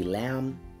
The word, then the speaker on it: lamb: We can say lamb, no B, the B is silent.